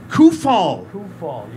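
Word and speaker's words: Kuphall: call me anything you want but the correct pronunciation is who fall coofall none of us were right just so you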